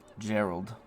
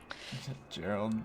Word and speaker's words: Gerald: Gerald. Harold Nice. rhymes with Harold. Gerald does rhyme with Harold. Okay, Gerald.